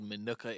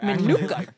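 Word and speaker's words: Minooka: Jackie is from some Hodunk town called Manuka, Illinois. You pronounced it greatly there. Manuka.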